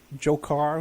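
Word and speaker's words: Dzhokhar: when the that guy jokar who just happens to to rhyme with Joker Batman you know so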